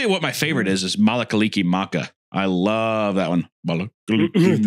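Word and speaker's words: Mele Kalikimaka: I'll tell you what my favorite is Malakaliki Maka. I love that one. Malakaliki Maka is a thing to say. It inherently doesn't sound Christmassy. Malakaliki Maka.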